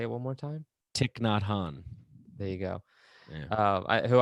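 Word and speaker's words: Thich Nhat Hanh: guy you mentioned i'm not sure how to pronounce his name say it one more time tick not han there you go uh who i've read and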